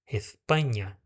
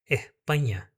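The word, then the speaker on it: España: Na Espanha eles vão falar Espanha, desse jeito, tá? Espanha. Porém, em alguns outros lugares, principalmente aqui na Améca do Sul, você vai escutar, ó, er, erpanha, erpanha.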